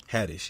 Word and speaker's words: Haddish: Haddish, yeah.